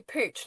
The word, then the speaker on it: Puig: Well, it's Spanish, but then because we're English, we've just like butchered it. Do you know what I mean? So, even the Spanish would hate it. But anyway, it Yeah, then my surname is pooch, but no one needs to remember that.